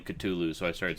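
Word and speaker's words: Cthulhu: you want either or there's no proper way to say it because if you actually say it right cthulu appears Inu yeah that's right it's unpronouncable by the human tongue the funny thing is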